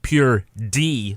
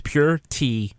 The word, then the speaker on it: pure D: damn filth so it's pure D like David but it's been corrupted way people say it they say it like with a t so it's pure tea filth it's like getting getting